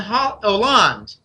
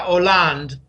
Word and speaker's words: Hollande: This is what Putin brought to the table to show Merkel and Hollande. A lot of people call him Holland. It's silent H in French. It's Francois Hollande.